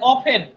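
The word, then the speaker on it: often: হ্যাঁ যেমন আমরা দেখেন বলি না যে অফেন ও এফ টি ই এন এখানে টি এর উচ্চারণটা নাই বা আপনারা বলেন লিসেন বলেন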